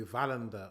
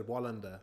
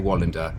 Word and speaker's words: Wallander: It could be Valander, or it could be Volenda, or Valander, or we don't know, because no one said the name. But he said Wallander. That's how we would pronounce it. Wallander.